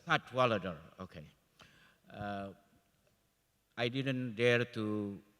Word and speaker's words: Cadwalladr: We have Madam Carole, I don't know how to pronounce it. Cadwalladr. Cadwalladr, okay.